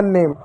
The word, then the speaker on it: name: उसी प्रकार एक और शब्द मैं लिखता हूँ NAME, एन को क्या हम नौ पढ़ेंगे, ए को क्या ए की मात्रा पढ़ेंगे, एम को क्या म पढ़ेंगे, हो गया नेम, ई साइलेंट रहा।